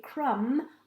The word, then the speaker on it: crumb: i say the word crumb i can't hear the bee it's a silent b if i say the word the thumb it's a silent b let's have a look